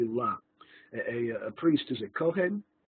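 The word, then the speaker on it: לא: In the Yeshiva world, many people are saying lo when they read Talmudic texts as well, but it really should be la.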